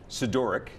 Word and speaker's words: Sidoryk: Please welcome Brandi, Sidoryk. Am I saying it right? You're saying it right.